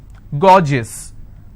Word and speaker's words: gorgeous: i have a word gorgeous so gore gis two-syllable i will stress on gore s-i-o-n tension pension so